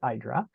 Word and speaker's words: IDRA: is a uh uh idra rhymes with Hydra I always say which